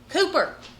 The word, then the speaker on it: Cooper: Have the heart and love to forgive me for, as Tanner says, Jaime, think a chicken coop. Cooper.